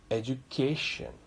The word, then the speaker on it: education: And I told you the rule is that the syllable before shan is pronounced or stressed. So the pronunciation of this word has become or is education.